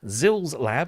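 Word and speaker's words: Xils-Lab: But it is now out, and it is from Zils Lab. I'm told that is the correct way of pronouncing it.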